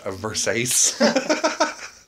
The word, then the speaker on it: Versace: too versace yeah hey it's pronounced versace oh yeah oh [